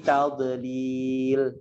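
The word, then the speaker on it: تضليل: Kemudian di kata tadlil, hati-hati di kata tadlil, dipantulkan. Ini jangan sampai dipantulkan ya. Fi tadlil, bacanya begitu, jangan sampai.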